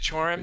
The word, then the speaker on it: Cioran: I think it's Chorin. Chorin? Is it Chorin?